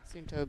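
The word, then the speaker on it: Suunto: The more that I pronounce, I try to say it the Finnish way. Sununto being headquartered in Finland.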